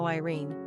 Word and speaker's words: Máirín: Maureen is the anglicized form of Máirín, pronounced Maireen, which is an Irish-Gaelic diminutive of Mary.